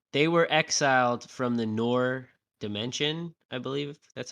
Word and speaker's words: Noor: And they were exiled from the Noor dimension, I believe that's how you say it, Yep. Noor, and that Aisha was one of them, which I believe Aisha is her great grandmother.